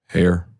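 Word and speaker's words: Haer: him by the name of Norman hair we pronounce this h a e r r hair okay that's what I thought hair Norman hair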